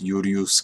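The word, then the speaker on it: Iulius: Gaius Iurius Caesar. Gaius Iurius Caesar. Julius Caesar. Gaius Julius Caesar. Julius Caesar. See, the V is pronounced U, not V, according to historic precedence in ancient Latin.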